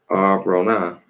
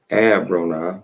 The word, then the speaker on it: Abronah: They set out from Jad Batha and camped at Arbronah. They set out from I put the R in front of the B. They set out from Abronah. That's how you say it. I say R anyway.